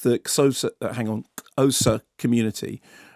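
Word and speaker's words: Xhosa: Exocet that hang on osa community i my pronunciations Rosa no but it's XH yes so as a click better click I don't think you're expected sake cosas with it with the click unless you are indeed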